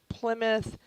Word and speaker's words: Plimoth: We do have a couple of videos out on the, it's called Plymouth, but it's spelt differently. It's Plimoth Plantation.